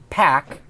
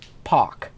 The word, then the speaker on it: Paak: pronounces it Pack, but it's really pronounced Pak.